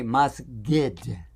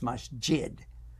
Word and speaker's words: masjid: And if you know anybody from Egypt, they like to pronounce the J sound as a G. Yeah, they do that. So they'll say masgid.